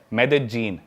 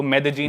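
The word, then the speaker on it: Medellín: उसकी एक सिटी है मेदजीन। स्पेलिंग में उसमें डबल एल आता है। मेदलीन होता है। लेकिन कोलंबियन स्पैनिश में ल बोलते हैं। तो मेदजीन वो शायद उसकी मेन सिटी है ना उस कंट्री।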